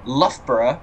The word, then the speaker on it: Loughborough: We've got Syston, Syllaby, I think that's how you pronounce it, Barrow-upon-Soar, love these British names, Loughborough, which is how you pronounce it, anyone who isn't from the area,